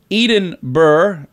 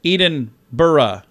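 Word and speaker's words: Edinburgh: not Adele really yeah Eden Burr instead of Eden burra Scotland okay um how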